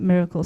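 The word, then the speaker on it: MRKL: other one is called MRK else and you pronounce it Miracle systems um and this is if you are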